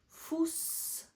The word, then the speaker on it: Fuß: That B-looking letter is equivalent to double s's. It's called Eszett, but it's pronounced as s. Fuß weiß.